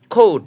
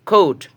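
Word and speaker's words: coat: এবার পরেরটা দেখি, সি এর পরে যদি ও পাই, তার উচ্চারণ কী হবে, ক হবে। যেমন একটা এক্সাম্পল শিখি আমরা, কন্ট্রোল, খৌট, সিওএটি, খৌট।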